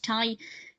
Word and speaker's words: Ty: call it Ty beanies it is Thai because it's named after Tai Warner the person who's behind Thai Thai beanies so I